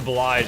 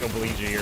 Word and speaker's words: oblige: Like, it's like instead of oblige, I said like obligee or something like that.